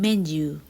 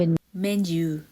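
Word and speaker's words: menu: ได้ ยิน บ่อย ใน คำ แมน ยู man u m e n u Men U หรือ เมนู น่ะ ค่ะ ที่ คน ไทย ใช้ เนาะ แต่ ว่า ออก เสียง ให้ ถูก เป็น เมนส์ You อาราย การ อาหาร ค่า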